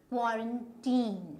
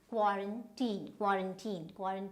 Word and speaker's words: quarantine: As just pronounce it and see whether you've been pronouncing it correctly. So this is quarantine, right? So this is not quarantine, but it is quarantine.